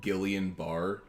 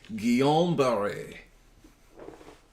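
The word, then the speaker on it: Guillain-Barré: get obviously uh that looks like it's spelt gillian barr but if you wanna be a really hoity toity fancy pants the way that you're technically supposed to pronounce it is guillain-barre how many people actually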